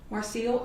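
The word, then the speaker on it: Marcille: them your name and if you can, just spell it for the court. Okay. Um, my name is Marcel. Marcel, M A R C I L L E.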